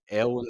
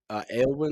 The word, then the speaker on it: Aelawyn: little X marks, and you see one in Aylwin City, and you see another in the Isles of Wisdom.